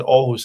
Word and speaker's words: Aarhus: You can spell it with a double A, so for what it will be Aarhus. But it's called Aarhus.